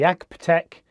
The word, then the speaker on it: AGPTEK: This time I'm using the RØDE Wireless Go with the AGPTEK, that's how you say it, £12 lavalier mic.